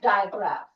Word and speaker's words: digraph: It is like, die. It is pronounced as digraph.